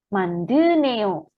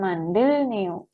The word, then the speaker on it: 만드네요: Jika ada bacim real ketemu huruf N ya, maka nanti R-nya itu eliminasi ya Robun ya. Jadi nanti hilang. Sehingga 만드네요, bukan 만들네요. Ya. Jika ada huruf real ketemu huruf biep, nien atau siet, ini hurufnya nien ya, maka nanti R-nya akan hilang.